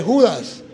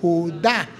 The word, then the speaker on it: Judá: Ay Tito por Dios ahí no dice Judas ahí dice Judá tiene acento en la a y Me too que